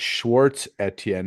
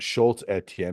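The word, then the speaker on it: Schwarz Etienne: I also need to apologize to the good people at Schwartz Etienne, not Schoultz Etienne.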